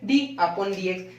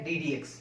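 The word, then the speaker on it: d/dx: अपॉन डी एक्स, लेकिन इसका actual pronounce है डी डी एक्स, डी डी एक्स। ये कोई डिवाइड का फॉर्म नहीं है, ये कोई डिवाइड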